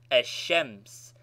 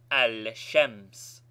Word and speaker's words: ash-shams: ash-shams is pronounced ash-shams and not al-shams.